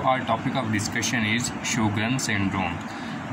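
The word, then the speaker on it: Sjögren's: topic of discussion is sug syndrome as it seems difficult to pronounce it's normal pronunciation is sugan syndrome and ignore my bad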